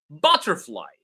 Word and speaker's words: butterfly: Butterfly, same. Ba, is receiving all the stress. Butterfly.